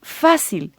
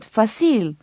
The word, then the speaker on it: fácil: That would be fácil, but pronounced correctly, the word should be fácil, not fácil. Since this word doesn't follow the rule, an accent is needed above the A, fácil.